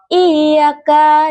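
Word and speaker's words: إِيَّاكَ: Kata i ka huruf ya makhrajnya itu di tengah lidah dan langit-langit mulut. Huruf kaf makhrajnya itu di bibir atas dan di ujung lidah. Kesalahan yang sering terjadi seperti pengucapan ya yang tidak jelas sehingga terdengar seperti iyaka menjadi iyaka dengan ya yang lemah. Contoh baca yang benar iyaka dengan ya yang terucap jelas.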